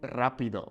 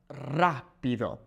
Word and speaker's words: rápido: Also, notice how we have that little accent mark over the A, okay? Here, rápido, it's pronounced as rápido, okay?